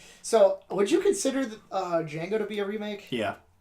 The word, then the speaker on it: Django: you know the original Django was in Django yeah yeah that's great great scene the D is silent I know I know